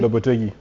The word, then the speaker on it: Lopetegui: How do you pronounce his name? His name is Julian Lopetegui.